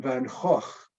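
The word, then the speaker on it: Van Gogh: you recognize this gentleman this is Vincent Van hoch which is the correct Dutch pronunciation sometime in the 1880s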